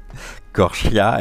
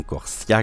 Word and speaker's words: Corchia: tellement peur le nom c'était sûr Corchia et non Corsia comme j'avais pu le dire je crois fin de semaine